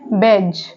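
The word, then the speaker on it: badge: हेज तो हेज में जो डी है वो साइलेंट है नेक्स्ट वर्ड है बेज तो बेज में जो डी है वो साइलेंट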